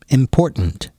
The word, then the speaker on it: important: how can you say important important now you don't have to pronounce the T the the first t as much important important important so try